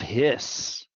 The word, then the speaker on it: His: called the bundle of hiss capital h i s this is a person's name not like his like a snake so don't don't spell